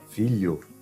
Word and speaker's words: filho: Ele será pronunciado como li. Vocês vão substituir mentalmente por li.